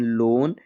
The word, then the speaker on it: loan: Silent होता है। आप हमेशा ध्यान रखिए। जैसे COAL कोल, COAT coat, LOAN लोन, TOAD toad, GOAL गोल।